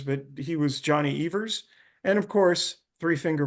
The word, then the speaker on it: Evers: Evers is pronounced with a long E. That's the correct pronunciation. Some people say Evers, but he was Johnny Evers.